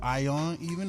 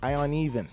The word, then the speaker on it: Ion Even: Is it Ion Even or? Ion Even. I on even. I on even. So it's funny. It's just I don't even whatever.